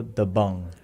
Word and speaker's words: Dabang: And the pronunciation for that, it's actually Radio Dabang.